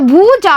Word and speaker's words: भुजा: छोटी मात्रा लगी हुई है यानी इसका उच्चारण हम करेंगे भुजा, और बड़ी मात्रा लगी हुई है तो इसकी ध्वनि हम थोड़ी बड़ी लेंगे और इसे हम बोलेंगे भुजा।